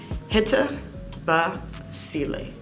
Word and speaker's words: HTEBASIŁÉ: So how to pronounce HTEBASIŁÉ? Like I said, hitabaseelay. HTEBASIŁÉ. Just like that. I wanted to make it as easy as possible by keeping all the vowels in the name.